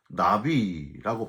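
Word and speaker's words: נביא: 외적인 은사, 예언 은사는 헬라어로는요, 프로페테이아, 히브리어로는 나비라고 발음을 하는데 점쟁이식으로 미리 일어날 일을 말해주는 사람이란 뜻이 아니고요.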